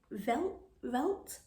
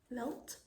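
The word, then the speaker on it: Veldt: This one is it Velt? V-E-L-D-T, Velt. That's how you pronounce it, I'm not too sure.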